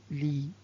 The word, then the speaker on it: lit: Donc c'est le lit. Le lit avec T à la fin mais ne se prononce pas.